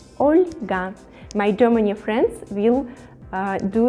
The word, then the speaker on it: Olga: mikhail mikhail oscar olga olga with the soft pronunciation the letter el olga my germany friends will